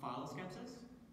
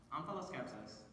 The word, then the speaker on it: omphaloskepsis: Can that also be pronounced phyloskepsis? It can. It would be wrong. Omphaloskepsis.